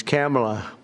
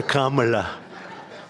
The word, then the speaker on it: Kamala: we have, but fortunately it's pronounced different. It's Kamala, as opposed to Kamala.